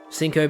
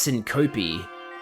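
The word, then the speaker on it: syncope: Um sinop is the broad medical term for fainting. Oh it's pronounced sync copi. My bad.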